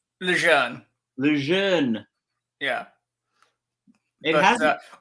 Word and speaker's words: Lejeune: Okay, so correct me on the name, like to correct us all, if you will, like give it phonetically. Lejeune? Lejeune.